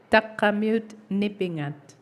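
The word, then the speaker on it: Taqramiut Nipingat: je je vais te demander de l'aide pour prononcer comme il faut takamut takamut takamut nipingat voilà incorporated euh TNI une Société Régionale de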